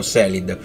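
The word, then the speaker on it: Caelid: Kelid, si può pronunciare Kelid o Selid.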